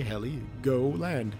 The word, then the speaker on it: Heligoland: H-E-L-I, Heli, go land. Heligoland.